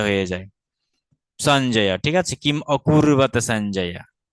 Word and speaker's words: কিম অকুর্বত: কিম অকুর্বত, কিম, এটা যে কিম অকুর্বত, কিম অকুর্বত, যখন আপনি অকুর্বত আলাদা করে উচ্চারণ করবেন তখন কিন্তু ময়ের পরে হর্ষ চিহ্ন